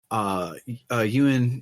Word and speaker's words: Yun: His name is Yun in the subtitles, YUN, but all the voice acting puts a second syllable in there, which maybe I think a I Chinese think it's a pronunciation. Chinese. I think it's a Chinese pronunciation thing. Like that is the correct romanization. It just it's not the same vowel sound.